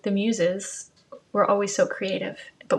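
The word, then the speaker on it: Muise: you want to be mused. And I just want to say one final thing, not final, but as I work on this, my grand-mère's last name is Muse, and it's spelled M-U-I-S-E.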